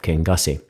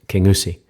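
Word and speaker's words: Kingussie: Highland Wildlife Park near the small town of King gasi it's actually properly pronounced King USI instead of King Kong Kong's escape the locals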